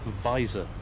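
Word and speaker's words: Vysor: i use a little program called visor spelled with a y v y z o r and that projects your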